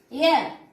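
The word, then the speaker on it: heir: आर, एच is silent हियर. एयर, एच ई आई आर, एच is silent हियर.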